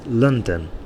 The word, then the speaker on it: London: noun and likewise um to pronounce the capital city of England correctly it's London okay London there's a bigger stress at the end there lond H sorry at the beginning London but two stressors in